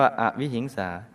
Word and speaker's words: อวิหิงสา: ให้ อภัย 8 อวิหิงสา ออ อ่าง ว แหวน สระอิ หอ หีบ สระอิ ง ง ง ส เสือ สระอา อ่าน ว่า อวิหิงสา ไม่ ทรง เบียดเบียน ผู้ อื่น